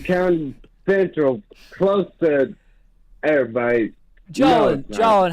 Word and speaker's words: Jolin: It's pronounced Jolin. But I Jolin.